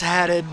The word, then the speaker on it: Haddad: He's like, you know, actually, it's Haddad, but it's Haddad.